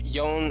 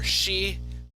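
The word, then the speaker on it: 四: And as you say, uh, Gecko, uh, four and seven have two different readings. For four, we have Yon or Shei. With seven, it's either Shi or Nana.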